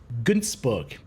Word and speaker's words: Günzburg: Sadly, that very scenario appears to be playing out on Günzburg. That's how you pronounce that's name, because that's how the town in Germany is pronounced that this planet is placed on.